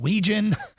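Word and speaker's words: Wetjen: you haven't seen him named spelled wetgen pronounced Ouijan uh he is incredible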